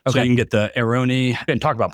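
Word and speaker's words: Airone: So you can get the Aeroni. And talk about pronunciation.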